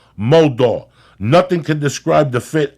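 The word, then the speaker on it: Modal: twice as soft as cotton again mold is pronounced moldo nothing can describe the FIT of meundies but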